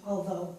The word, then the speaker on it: although: Now we go down here, and it's the same with the although. The GH is not pronounced.